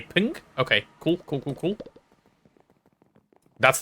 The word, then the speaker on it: PNG: pin stands for number it's ping according to the creator wait really png is supposed to be pronounced ping That's stupid.